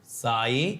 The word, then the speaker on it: psi: साई is equal to एल आई, इसे साई बोलते हैं, जो साउथ वाला नेम है ना SAI वैसा ही साई, बट वो अलग बात है, इसकी जो स्पेलिंग होगी वो PSY होगी साई, बट आप साई समझो, साई बाबा।